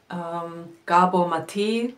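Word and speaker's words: Gábor Máté: Ich liebe Gabor Maté, spricht man in Deutsch aus, aber Máté Gábor heißt er eigentlich auf Ungarisch.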